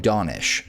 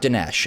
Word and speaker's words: Donish: The TikTok creator Donish revealed in and by the way, I checked this time, he pronounces his own name Donish, so it's not Dinesh, as I've been mispronouncing this entire time. Donish revealed in a video